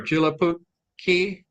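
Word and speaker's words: Joulupukki: Okay, any day of the year, Santa Claus or Julapuki. Did I say that right, Randy? I'm not sure. I can't pronounce it. It's JOLUPUKKI. So you pronounce it how you pronounce it.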